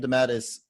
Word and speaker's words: DeMatteis: Demat, I don't know how to say his name. Is Jam it Demand. J.M. DeMatteis? Okay. J.M. DeMatteis was really trying to instill themes of family